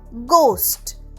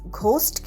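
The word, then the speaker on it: ghost: ইংলিশে ভূত হলো গোস্ট। জি এইচ ও এস টি। এইচ কিন্তু এখানে সাইলেন্ট। ঘোস্ট কিন্তু নয়।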